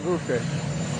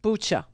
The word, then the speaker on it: Bucha: And what's happening in Bucha is outrageous. And everyone's seen it. It's Bucha, not Bucha. Bucha, like butcher.